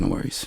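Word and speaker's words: NxWorries: NX Worries. Pronounced No Worries.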